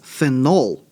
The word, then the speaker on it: phenol: And notice the difference in pronunciation. When it is a substituent, that is a phenyl. When it is this guy with the OH, that one is phenol.